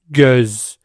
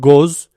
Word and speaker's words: göz: It's not O, it's Now, if I pronounce the word, you can understand. Göz. It's not goz, it's göz.